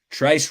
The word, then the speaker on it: Trice: with Corey Trice hey Trice rhymes with price so for that reason